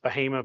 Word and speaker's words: Bahama: I know it's spelled like Bahama, but it's pronounced Bahama because it's the first two letters of the three families that settled the area: the Balls, Harrises, and Mangums.